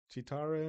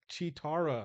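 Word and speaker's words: Cheetara: Chitara. Oh. Jesus. Spell it for me because I CH. It's like cheetah and then Tara.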